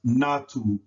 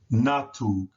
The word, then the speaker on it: natug: And so notice that the A goes between the first 2 letters and that the U is placed in between the last 2 letters. And the sound of that is a, u, which would make the word pronounced natug, natug.